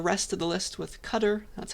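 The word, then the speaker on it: cdr: You can get the first thing with car, get the rest of the list with cutter. That's how you pronounce it.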